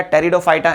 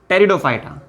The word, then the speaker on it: टेरिडोफाइटा: Number third पर आपको दिखाना होगा टेरिडोफाइटा। ये नंबर थर्ड कैटेगरी है, पी यहां पर साइलेंट होता है।